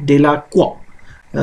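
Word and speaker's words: Delacroix: ये जो है ये डेलाक्वा इसको प्रोनाउंस करेंगे, ठीक है, युग्ने डेलाक्वा, ठीक है।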